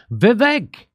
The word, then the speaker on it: Vivek: Vivek, which rhymes with stomach ache, Vivek Ramaswamy says England just banned puberty blockers in minors because gender dysphoria is a mental health disorder.